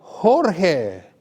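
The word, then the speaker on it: Jorge: 스페인 사람인데 스페인어로 하면 이제 조지가 호르헤, J하고 G 같은 다 히읗 발음이에요.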